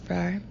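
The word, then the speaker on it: Fraa: Fra, F-R-A-A, pronounced Frar.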